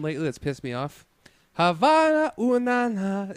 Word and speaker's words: Havana: Havana first of all it's not like ha bah now whatever you said it's Havana well I mean if